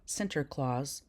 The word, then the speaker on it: Sinterklaas: The Dutch pronunciation of St. Nicholas was Sant Nicolaas, or Sinterklaas, or Santa Claus.